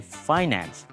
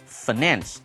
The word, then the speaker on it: finance: 这里我们看到 finances 这个字 finance。Finance 这个字有两种念法，你可以念 finance 或者念 finance 都可以。比如说我们的财政部叫做 Ministry of Finance， Ministry M-I-N-I-S-T-R-Y 是一个部门的意思，部会 Ministry of Finance。比如说你也可以念成我呢，在大学的时候是主修财务，你可以说 I majored in finance，你也可以念成 I majored